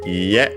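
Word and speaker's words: iie: With B, we have ie, technical accent on the last syllable, even though it can't be heard usually, because we usually don't add anything after it.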